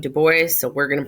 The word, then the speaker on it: Du Bois: talking about Freud and Dubois ok no it is not pronounced du Bois he pronounced his name to boys so we're gonna pronounce